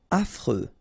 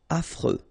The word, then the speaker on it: affreux: Affreux. Final X not pronounced. And then you get this fr. Freux. Affreux.